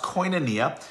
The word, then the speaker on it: koinonia: but fellowship you know is a greek word it's pronounced koinonia and the idea of